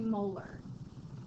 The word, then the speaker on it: molar: We don't say that's 2 molarity. We say that's 2 molar. So like a molar in your mouth, like a tooth molar, that's how you say it.